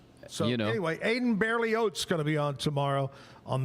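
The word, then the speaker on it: Berlioz: And it's pronounced Barely Oats. The last name is almost like oatsely, but it has a Z. Barely Oats. Barely Oats. So anyway, Aiden Barely Oats gonna be on tomorrow on the show playing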